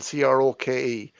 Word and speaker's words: Croke: Is it croak? Is it croak? Croak? It depends on how, it's Croak is how it's spelled, Croke. But some people, when they pronounce it like Crow Park, they leave out.